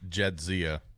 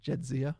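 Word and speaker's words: Jadzia: How do you pronounce the cat's name? Jedzia. Jedzia.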